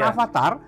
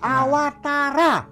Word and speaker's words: Awatara: Awas para dari awal Karya bukan Avatar bukan Avatar bukan juga autorouter Awatara karena dalam bahasa Sansekerta wufi itu dibacanya ww2w Tarra Jangan salah Ini pemirsa jadi bukannya avatar avatar avatar Awatara Salah satu ajaran yang